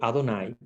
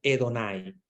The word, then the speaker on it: Adonai: con un cambio, porque se podía decir Adonai o Edonai, porque el Señor se pronuncia de las dos maneras, ¿verdad? En hebreo se puede decir Edonai o Adonai, es de la misma manera.